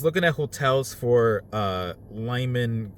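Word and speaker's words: Limon: at hotels for uh Lyman Colorado I think that's how it's pronounced l-i-m-o-n I think that's the name of the town and there's some hotels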